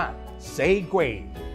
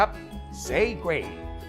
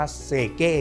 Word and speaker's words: Segue: ต้น ฉบับ นะ ครับ ออก เสียง ว่า เซก อ่ะ พูด ตาม ครับ เซก แต่ ถ้า จะ อ่าน แบบ คุ้น ภาษา บ้าน เดา หน่อย ก็ จะ เรียก ว่า เก้ ก็ ได้ ครับ ซึ่ง